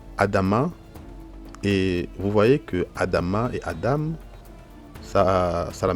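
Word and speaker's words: אדמה: Là, on a lu en haut Adam, mais ici nous lisons Adama, donc on retrouve le Aleph avec le A, on retrouve le Dalet avec le A, on retrouve le Mem avec le A. C'est vrai que le Mem,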